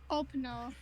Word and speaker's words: Openor: Openor. Yeah, Openor. Think like open door, but Openor.